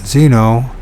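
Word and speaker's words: xeno: Although Patrick had no knowledge of Greek, Exno, pronounced Zeno, it says Zeno, is the word for stranger in that language.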